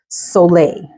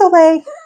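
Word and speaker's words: Soleil: or means and so my husband pronounced it so and she jumped out from the shadows and was like it's it's soay but what I'm getting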